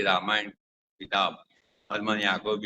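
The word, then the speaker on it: Jacobi: थे Harman scholar Harman Yakub A सी ओ बी आई उसका spelling है जे का उच्चार य होता है तो जाकोब नहीं लेकिन याकोब तो याकोब ने एक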